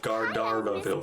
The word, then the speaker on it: Gandharvaville: Klee is pronounced Gardarvaville.